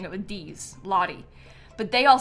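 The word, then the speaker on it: Lottie: But her name is Lahi. Um, like L O T T I E. And I say Lahi. Lahi. Like sort of like it sounds like I'm saying it with D's. Lahi.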